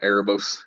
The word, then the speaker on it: Erebos: How do you pronounce that? Erebos? Yeah, Erebos.